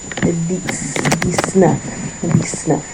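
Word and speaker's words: dix-neuf: So, make sure that was your pronunciation. Says next we have 19. DNF.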